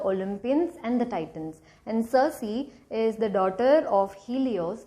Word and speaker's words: Circe: The Greek pronunciation for this word is kirk, but let's just pronounce it Circe because I like this better.